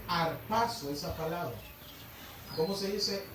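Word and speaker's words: ἁρπάζω: Y en el verbo griego se dice arpazo, esa palabra.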